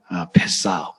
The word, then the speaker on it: 페싸흐: 발음하기 힘들죠? 펫사흐. 뭐가 패스한다는 말하고 비슷하죠, 그렇죠? 히브리어에서 이 패스라는 말이 나왔어요.